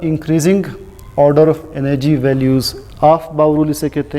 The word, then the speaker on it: Aufbau: इसका पहला रूल है, इसे हम प्रोनाउंस करते हैं ऑफ बाउ रूल।